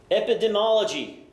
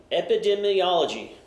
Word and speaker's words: epidemiology: here we go kids let's try this again epidemology the student of the distribution or should say the study of the distribution of disease or injury within a population and its environment epidemology epidemiology I'm going to say it right one of